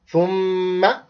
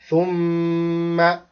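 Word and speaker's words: ثم: Thumma, this also another rule of tajweed. When we have mim or noon with shadda, we make ghunna. To stop on the letter for while. So here we say thumma, thumma.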